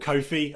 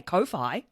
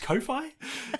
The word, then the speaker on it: Ko-fi: in like confidential low-fi you say low five but you don't say kowhai yeah that's that's why i make that kind of connection thinking oh is it pronounced ko-fi but uh yeah it's uh